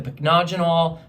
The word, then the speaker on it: Pycnogenol: I saved the best for last, is the Pycnogenol, 5%. Yes, that's how you pronounce it. It's impossible. It's impossible to understand. So I call it the impossible, marvelous antioxidant serum. Pycnogenol is a derivative of pine needles.